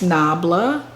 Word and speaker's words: NABLA: haul and that is nubella nabala nabla i don't even know the how to pronounce it but it's nabla and this is the